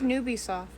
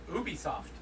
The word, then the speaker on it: Ubisoft: What is Nubisoft? Ubisoft. Woo! Do they spell it like N-O-O-B soft? No, it's UBI soft.